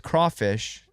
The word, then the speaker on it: crawfish: they are spelled like Cray, right? Like cray. I don't know. Crayfish is the original French-derived term. So do they have mud? But no, it's crawfish.